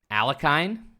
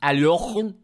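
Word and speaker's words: Alekhine: You could say Alakine. You could say Aliakin. Or you could pronounce it properly where your throat just becomes Aliochun.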